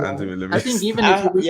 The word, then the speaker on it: Demeulemeester: It's Demeulemeester, but no one actually says that. So it's like, Demeulemeester. I'm never saying that. I just copied the way Drew says it.